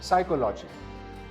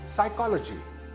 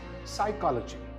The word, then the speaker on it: psychology: This is not psychology. It's psychology. Again, it's the second syllable that is stressed. So this word is psychology.